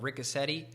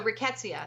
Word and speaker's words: Rickettsia: a trip in that one virus I may pronounce it wrong is it called Rica SETI Oh so Rickettsia that's the family a bacteria that causes Rocky